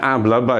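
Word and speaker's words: hablaba: sekarang menjadi a ablaba bacanya ablaba Ya karena h-nya tidak diucapkan jadi ablaba jadi kalau pokok kalimatnya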